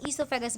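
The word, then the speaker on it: oesophagus: ये ओइसोफेगस जो इसमें ओ साइलेंट रहता है इसे हम ईसोफेगस बोलते हैं।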